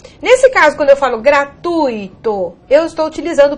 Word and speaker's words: gratuito: Há pessoas que pronunciam gratuito, fortuito, intuito, cuidado. Essas palavras não são hiato, né? Não tem pronúncia tônica do I, pelo contrário, elas são ditongo, e o ditongo aqui no caso mostra, o I é semivogal, ok?